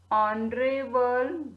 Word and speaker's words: honorable: And H, this is the consonant word, consonant letter, but when we will hear sound of this word, H is silent in this word. Honorable judge.